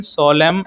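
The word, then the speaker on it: solemn: Which letter is साइलेंट इन सोलम एंड कॉलम।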